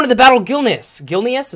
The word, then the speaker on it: Gilneas: the battle Gil pneus gilneas is how you say it I love this place